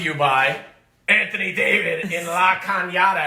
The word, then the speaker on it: La Cañada: The cups are brought to you by Anthony David in La Cañada. And that's how you say it, guys. It's not La Canada, La Cañada.